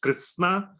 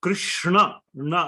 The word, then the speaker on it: Krishna: in the Sanskrit language so Krishna means your the tip of the tongue has to touch the top of your sort of mouth that's how you one